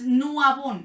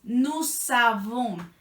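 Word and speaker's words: nous avons: aquí hay dos temas la aleación con la a eso hace que la s de nut suene por eso no es no Avon es nuzabón nuzabon y la segunda es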